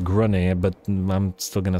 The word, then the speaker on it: Grungni: I'm pretty sure it's pronounced Grunny, but I'm still gonna say it as I say it.